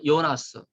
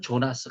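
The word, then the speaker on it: Jonas: 연결되는 그런 주장도 있었죠 한스 어요 와 요나스 4 그 독일 사람이니까요 나 쓰라고 하는데 미국사람들은 존 왓슨 이렇게 발음을 하지요 4 영주를 이해할 때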